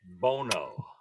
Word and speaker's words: Bono: Number 4, Bono. Is that how you pronounce it? Bono. Bono. Oh, Bono, yes.